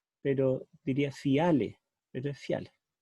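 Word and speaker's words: φιάλη: Dice fiale, pero en griego el acento se pone en la segunda vocal cuando hay un diptongo, pero se debiera pronunciar en la primera.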